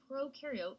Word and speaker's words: prokaryote: like to remember that pro in prokaryote rhymes with no and you in you